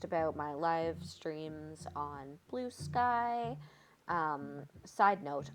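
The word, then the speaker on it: Bluesky: Um, side note, I have a very hard time not pronouncing blue sky like blue ski because it's just literally the same spelling. So, I always want to call it the blue ski.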